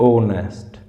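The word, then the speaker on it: honest: पहले एन आएगा जैसे ऑनेस्ट ऑनेस्ट की स्पेलिंग तो एच से शुरू हो रही है बट एच साइलेंट है तो ऑनेस्ट ठीक है नरे बल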